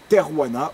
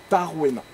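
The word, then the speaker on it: Tarvenna: qui à cette époque s'appelle Terwana ou Tarwena. Vous trouverez les deux orthographes, les deux sont totalement acceptés, et les deux prononciations également.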